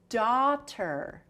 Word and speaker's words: daughter: - Dah - Okay, first syllable, Dah, D ah. - Dah. - It's the D, which is the D. - Very good. - And ah, A U G H.